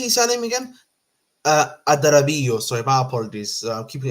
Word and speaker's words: Adarabioyo: Adarabioyo.